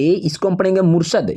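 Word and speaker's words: Murshid: पे इसको हम पढ़ेंगे मुर्शद यहां पे लिखा हुआ है मुर्शिद लेकिन आपको पढ़ना होगा मुर्शद और स्पेलिंग क्या हो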